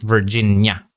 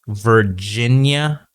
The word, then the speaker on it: Virginia: What you need to improve on is your vowel sound at the end of this name or in this word, Virginia. Okay, not Virginia. Okay, don't end it too much. Make the sound a little bit longer. Okay, Virginia.